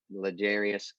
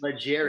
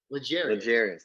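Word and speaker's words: L'Jarius: I can't believe you're pronouncing my boy's name wrong. Come on now. Ladarius? Legarius. What is it? Legarius. There. Okay.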